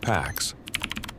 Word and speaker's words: P4X: His name at that point was known only by the online handle P4X, pronounced Pax, a deliberate and sardonic reference to peace.